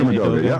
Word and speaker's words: Edoga: lineman that stood out to me was Chuma Edoga. Is that how you say his name? Edoga, yeah.